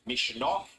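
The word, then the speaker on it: Misneach: Hill who's confirmed that the pronunciation of the seven here is Mishov Irish for courage or spirit let's hope she can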